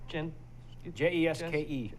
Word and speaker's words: Jeske: That is Dean, Jeske, which would be pronounced Jesk. Jeske. Jesk.